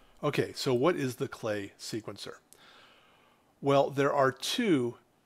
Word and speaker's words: Klee: Klee synthesizer by the way I keep saying clay it's actually pronounced clay is a really good introduction to the ideas